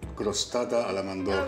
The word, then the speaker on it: crostata alla mandorla: You need to be able to roll your R's to say this. It's called crostata alla mandorla.